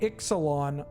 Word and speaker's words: Ixalan: of the X but we do pronounce the X for the name of the set right that's kind of weird to me why is it Exelon why do we pronounce it Exelon not isalon have they ever mentioned